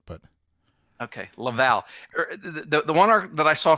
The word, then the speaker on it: Laval: Laval is how English Canadians pronounce it, but okay, Laval.